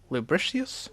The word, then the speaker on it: lubricious: of hips accompanying their lubricious dances, like lubricious I guess dance. so. Yeah. Actually, it's pronounced Lubricious.